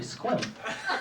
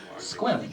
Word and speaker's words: Sequim: Turns out that was actually squim. I know I was going to personally offend Bob. Jack, that's where Bob's from. That's where Bob's from. It's a temple. Squim, Washington. Squim. One syllable.